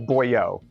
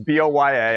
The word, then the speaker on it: Boya: Also, I thought it was Boyo. I've been saying the last couple of times I mentioned it. It was Boyo. It's not. It's B-O-Y-A. I double checked on Amazon. It's Boya. Boya. I said it wrong.